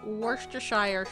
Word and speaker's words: Worcestershire: oh absolutely along with Worcestershire sauce which based on the town it was invented is pronounced Worcester Shire hey did it right